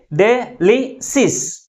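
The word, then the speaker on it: delicious: Second syllable is pronounced with a greater force comparing with other syllables. And also this word ends with IOUS. That's why the primary stress is on the second syllable from the last.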